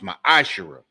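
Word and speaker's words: מעשר: Means 10th in the Hebrew, and it's pronounced ma'ashera.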